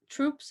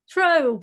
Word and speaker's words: trope: certain cliches are TR troops am no I'm not saying no it's not troop how do you pronounce it a troop Trope a Trope it's not the first